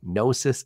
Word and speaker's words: Gnosis: technical officer at nois Freight by the way nosis is spelled GN o s i nosis Freight pioneered